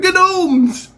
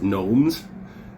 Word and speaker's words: gnomes: those and i said they're genomes and he said it's pronounced gnomes and why did you